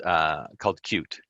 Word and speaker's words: Qt: Well, we take advantage of some technology from a company called Qt. It's spelled, as you can see there, QT, but it's pronounced Qt.